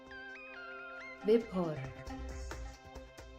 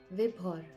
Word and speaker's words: Vibhor: Vibhor. Let me hear that again. Vibhor. I pronounced the H, eh? It's like Vibhor. She's pronouncing the H, which I would not have thought.